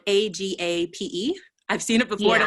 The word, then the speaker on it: agape: love is unconditional agape love which i believe is spelled a g a p e i've seen it before and i'm like hey